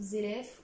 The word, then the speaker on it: Zeref: pour Fairy Tail, et je vous présente donc Zeref. Ou Zelef, ou Zeref, comme vous souhaitez le prononcer.